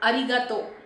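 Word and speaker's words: ありがとう: In arigato, the letter R is pronounced somewhere between R and L. It is like R. Arigato. So it is not similar to the letter R in English where our tongue twists completely, but our tongue has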